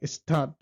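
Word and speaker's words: Stadt: তারপর যেটা আছে আমার এসটি, ST sound like S হা ঠে, শার্ট, লাইক স্টাড, স্টাড মানে শয়ের সাথে ট যুক্ত করে যেটা হয় স্টাড, স্টাড, স্টাড, তার মানে এসটির উচ্চারণটা হলো এরকম। আর এনজি যেটা হলো আপনার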